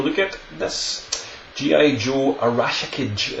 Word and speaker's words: Arashikage: Joe Arashikage, I think is the correct pronunciation of the Ninja Clan which Storm Shadow comes from, and this is what we've got here.